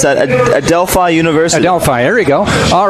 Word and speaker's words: Adelphi: I don't even know how to pronounce that. Adelphi University. Adelphi, there you go.